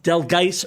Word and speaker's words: Dahlgren: Dahlgren Road. Right. The accent's on the second syllable.